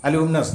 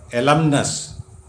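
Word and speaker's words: alumnus: എന്നാണ് അല്ലെങ്കിൽ കലാശാല ബിരുദധാരി അലൂമിനസ് നമ്മൾ ഓൾഡ് സ്റ്റുഡൻറ്സ് അസോസിയേഷൻ എന്നൊക്കെ പറയുന്നതാണ് അലൂമിംനസ് തെറ്റാണ് ആ ഉച്ചാരണം എൽ യു എം എൻ യു എസ് ഈസ് നോട്ട് അലൂമിംനസ് ബട്ട് എലംനസ് എലംനസ് അതിനൊരു സ്ത്രീലിംഗം ഉണ്ട് രൂപം എൽ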